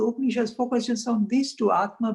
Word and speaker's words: Atman: And these are two, I mean, the exact pronunciation, Brahma and Atma, but then in English we don't put an end at the end.